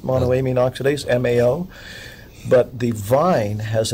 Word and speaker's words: monoamine oxidase: I in the stomach because of something called mono a mean oxidase is that how it's pronounced monoamine oxidase Mao but the vine has an MAO inhibitor